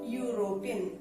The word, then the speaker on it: European: It begins with a vowel letter E, but we used a before European. Why did we use a? Because it begins with a consonant sound. European.